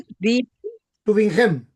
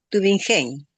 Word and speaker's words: Tübingen: y gnosticistas, entre los teólogos de Tübingen, así se pronuncia, Tübingen. Tübingen, y los de Giesen.